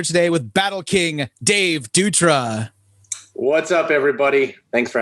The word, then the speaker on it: Dutra: kashida and a japanese some japanese press wrote my name out as d-a-t-u-r-a so datura and i think it's because for whatever reason dutra is hard for them to pronounce so they spelled it as they would pronounce it so if you